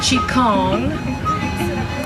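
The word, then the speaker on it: Qigong: term is vital energy Qi Gong sometimes he pronounced Chaconne is the science of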